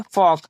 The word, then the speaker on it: folk: फिर यहाँ आप देख सकते हैं के पहले क्या है हमारा, एल है, तब यहाँ एल क्या रहेगा, साइलेंट रहेगा, तब इसे हम क्या पढ़ेंगे, फॉक, जिसका हिंदी मतलब होता है जन समूह।